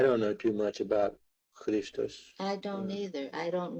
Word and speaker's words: Christos: The accent on is Christos instead of on Christos. The first syllable instead of the second one.